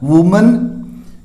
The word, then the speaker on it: woman: और फिर जो नेक्स्ट दो वर्ड है अपना वुमन और वीमेन, ये ध्यान रखना है। देखो वुमन ये सिंगुलर है, महिला या औरत, WOMAN, इसका जो प्रोनाउंस हम कैसे करेंगे, वुमन, ध्यान रखना है, सिंगुलर है ये।